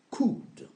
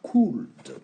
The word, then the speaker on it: could: modal could n'oubliez pas on ne prononce pas le l qui est ici on dit pas cool quand on commence on prononce le L pour vous aider à à à connaître l'écriture mais une fois que vous maîtrisez lorsqu'on prononce évitez de dire c cou comme le cou d'ailleurs pour conjuguer c'est ça